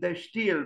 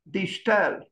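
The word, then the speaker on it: De Stijl: noticed in pronouncing digital I I used to pronounce it the steel but I read on there is a website which tells you how to pronounce correctly and apparently the the correct pronunciation is digital how it was born in Palmer and the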